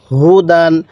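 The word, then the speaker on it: هُدًى: জবর দান হু দান হুদান অনেকে হয়তো বলবেন যে হুজুর ইয়াটা পড়তেছেন না কেন দেখুন এই ইয়াটা শুধুমাত্র লেখার সময় আসবে পড়ার সময় উচ্চারণে আসবে না তাহলে হুদান পড়ুন হুদান এরকম ভাবে শিখবো এবার আমি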